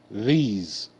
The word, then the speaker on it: these: boys shoes okay good these th e the Z Fe Z these okay s make the z sound e is silent okay um you can